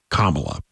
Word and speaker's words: Kamala: am I am convinced by someone that she pronounces it differently than that that's the correct way kamla all right so kamla got a phone call